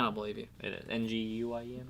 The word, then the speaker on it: Nguyen: It's pronounced Win. I don't believe you. It is Nguyen, right?